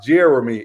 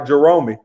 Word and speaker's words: Jeromie: correct you later on my name is pronounced jeremy it's just look like jeromey look i've been saying jeromey because my mama watching